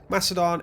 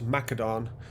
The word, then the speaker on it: Macedon: Also, thank you for people that advised me on how to pronounce something, as I was calling it Macedon. It's of course Macedon, because the Greeks used a hard C.